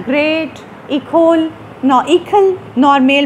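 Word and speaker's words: École: किया वो था द इकल। इकल, ये इकोल भी आप इसको पढ़ सकते हैं, ये इंस्टीट्यूशन इकोल आप पढ़ लें इसको, लेकिन इसकी सही प्रोनाउंसिएशन है इकल।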